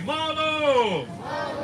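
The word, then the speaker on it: manō: Repeat after me. Malo. Oh, lay it on me. Malo. And that is how you say shark in Hawaii.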